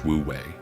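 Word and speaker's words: wu wei: Wooi pronounced woouei is the art of effortless action.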